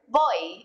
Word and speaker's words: voy: bit on the pronunciation in Spanish v's and B's sound a lot alike and they're pretty much just a mixture of the two letters after voy you're going